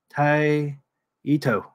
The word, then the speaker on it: Taito: Tito Tito Tai right taito would be crook Japanese pronouncing it Jason actually if you wanted to be strict it would be more like Tai Ito te Ito ah taito